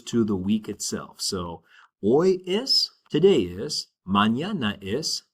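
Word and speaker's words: hoy: is oi. All right. To respond to that question, we would say oi is and which means today is. And remember the word the letter h in Spanish is silent.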